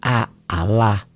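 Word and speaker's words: الله: yang berbaris kasrah itu bunyi jangan out tapi aalah ya bismillah Wah kita lihat contohnya ya cara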